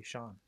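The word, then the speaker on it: Shon: Yeah, Shawn plays with a Shawn. What? Shawn plays with a Shawn cue. A Shawn cue? Yeah, it's spelled S-H-O-N.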